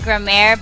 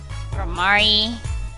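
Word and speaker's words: Gramarye: uh I used to I call it grm but it's actually gamari gamari gamari gam I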